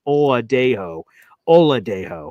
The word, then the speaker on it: Oladejo: Oladejo is how you pronounce it.